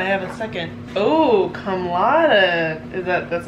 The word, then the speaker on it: cum laude: Oh, cum laude. Is that, that's not how you say it. Cum laude.